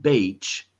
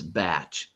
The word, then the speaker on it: batch: It's not batch, it's batch. It has the ah short sound.